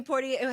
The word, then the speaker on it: Poitier: Sidney Poitier. How do you say his name? Poitier?